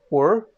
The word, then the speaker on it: Ur: abraham is living here in a city called or okay or or you are spelled as you are pronounced as or and this is in sumeria okay and this